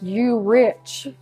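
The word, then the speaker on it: Urich: It's spelled like U-Rich, Hmm. U-R-I-C-H, but it's pronounced Uric.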